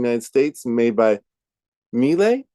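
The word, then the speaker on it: Miele: United States made by melee I think is how you say them me m l e I see Morgan nodding thank you for confirming um so we got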